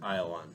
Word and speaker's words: Ayalon: The How do you pronounce that? Ayalon Valley.